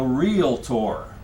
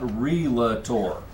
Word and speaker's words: realtor: And once you do, you will then become you will become a realtor. It's a two-cllable word. It's not realtor. Okay? Two syllables. Realtor.